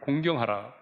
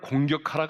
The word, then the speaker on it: 공경: 명령한 대로 네 부모를 공경하라 자 발음을 잘 해야 되겠어요 부모를 공격하라 가 아니죠 부모를 어떻게 하라구요 공경 하라구요 요즘에는 공격하는 것이 아니라